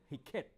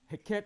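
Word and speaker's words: Heket: that frog god was was a god named heet I'mma spell it for you the fertility God all right heet is spelled h e k e t h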